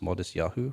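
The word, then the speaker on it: Matisyahu: No, but it's pronounced Modest Yahoo.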